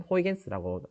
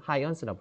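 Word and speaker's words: Huygens: 뉴턴에 도전한 하이원스, 앞에서 얘기했던 호이겐스라고 저는 배웠고요. 지금은 하이언스라고 부르네요. 옆에 보면은 Huigens, 옛날 교과서에는 호이겐스라고 읽었고요.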